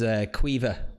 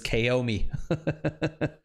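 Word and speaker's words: Caoimhe: And then the one above is Quiva, but regularly would get pronounced as Kaomi.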